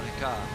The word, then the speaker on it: Ricard: Yeah, it's Paul Ricard. Yeah. It doesn't have an H. It's French. La baguette. Well, it's got a D on the end, so we pronounce those. They don't pronounce that in French.